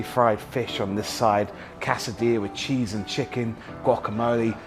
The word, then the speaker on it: quesadilla: We've all seen a quesadilla before, or quesadilla as you say it properly, but they take these things to the next level.